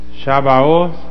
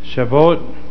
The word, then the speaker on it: Shavuot: It's just Shavuot, or some pronounce it Shavuot.